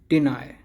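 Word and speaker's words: deny: अब आप सोचते होंगे जैसे कि हमने फाई पढ़ा था, इसे फाई पढ़ा था हमने ऊपर, तो आप ऐसे ही सोच रहे होंगे कि इसे भी हम नाई पढ़ेंगे। नाई नहीं, इसे पढ़ा जाएगा नाय, डिनाय डिनाय।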